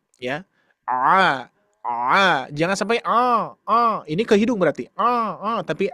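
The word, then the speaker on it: ع: Karena karena pengucapan ain itu a aa bisa dibayangkan ya, bukan a a tapi aa ujungnya seperti hamzah ya. Karena ee untuk huruf ain ini penekanan ee katup epiglotisnya itu di awal.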